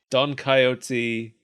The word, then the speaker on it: Don Coyote: Sancho panda oh okay Don coyote like the animal coyote pronunciation yes I looked at